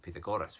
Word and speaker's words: Pythagoras: of calabaca calavaca calavaca wrong um i mean pythagoras is is pronounced pita goddess which is far far nicer than my thigh